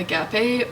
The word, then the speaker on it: agape: okay guys I looked it up it is pronounced agape and it means the highest form of love